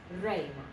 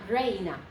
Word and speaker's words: reina: So that's king, and then we have queen, and it is a two-syllable word, and so you have the reina, reina, two syllables, reina, not reina, okay?